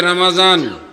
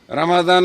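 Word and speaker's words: رمضان: কার নাম শান্তির মালিক কে আল্লাহ এরপর আসতেছে রমাজান রমাদান কারীম বছর ঘরে আমাদের দ্বারে এসেছে ফিরে বরকতময়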